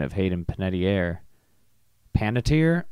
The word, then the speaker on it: Panettiere: Oh god, I bet it's like Panettiere, isn't it? Is it Panettiere? Panettiere. Okay, Sarah, you can't capitalize 2 syllables, or else you got to capitalize the one with the stress. Oh, you're capitalizing all of the syllables. Panettiere. Panettiere? Panettiere. That's a dumb way to say it.